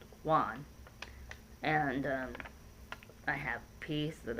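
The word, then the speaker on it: won: wand w/o n ah it's how it's spelled but it's pronounced Juan and I have peace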